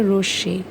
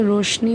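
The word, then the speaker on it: রশ্মি: যেমন এই যে এটা হচ্ছে রশি। আমরা অনেকেই কিন্তু এটাকে রশনি উচ্চারণ করে থাকি।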